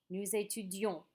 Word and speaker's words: nous étudions: See how there's that O-N-S on the end? Do I pronounce the S? No. And if you look here, I'm going to say it again. Nous étudions. Don't forget, I just told you to pronounce N-O-U-S like nous, unless the next word begins with a vowel. Then you're going to use that liaison.